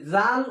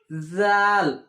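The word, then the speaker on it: ذال: এই জাল উচ্চারণ হবে এই সায়ের মতো, এটাও হালকা জিহ্বা বের করে ওপর দাঁতের সঙ্গে লাগিয়ে জাল।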